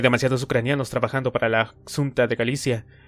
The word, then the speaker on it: Xunta: Siunten era la versión deformada y eslava que tenía Princhenko de pronunciar Xunta.